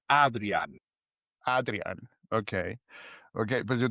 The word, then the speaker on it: Adriaan: Si dices Adrián, me parece bien, pero en Ok. holandés es Adrián.